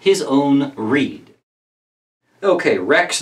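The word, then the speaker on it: rede: wrecks not his own reed. Okay, wrecks not his own reed. Reed is the same. There, it's spelled R-E-D-E, same as reading.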